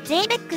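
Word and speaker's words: ゼーベック: 今回のキーアイテムジーベック発電機と理想姿勢世紀の登場ですあっ嬉しいベックじゃなくてゼーベックって読むらしいよこええええ知らなんだ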